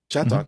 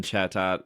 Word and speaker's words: Chatot: How do you pronounce the name of the Pokemon? Chatot? Chatot? Chatot. Chatot? Yeah. Chatot. We say Chateau here.